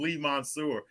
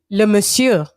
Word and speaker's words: Le Monsieur: I always call him Lee Mansour. How did you say his name? Le Monsieur. Le Monsieur. Yeah, it's French.